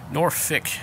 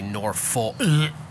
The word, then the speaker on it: Norfolk: proper pronunciation of norfolk norfic is acceptable but please please please please please don't ever say nor full i can't don't say nor nor full it's norfolk all right so it